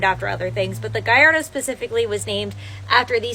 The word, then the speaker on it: Gallardo: have cars named after other things but the gardo specifically was named after the Spanish bull fighting